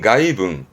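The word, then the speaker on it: 外聞: 이거는 외문이네요. 발음은 가이붕.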